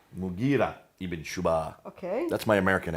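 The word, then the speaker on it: Mughira ibn Shu'ba: Sorry for the Abdul pronunciation. Qais. Qais. In Syria, Al-Muqarid ibn Shuba. Mughira ibn Shuba.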